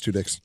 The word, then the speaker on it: Tudyk: I always pronounce it Tudyk. Is it Tudyk? I've always just said Tudyk. Okay. Yeah, it's Tudyk's.